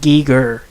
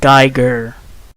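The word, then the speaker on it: Giger: And by the way, it's pronounced Geiger, not Geiger.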